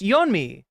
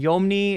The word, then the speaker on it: Yeonmi: It's Yeonmi. And it's, I think I'm writing her name wrong. I think I'm writing Yomni, and it's actually Yeonmi.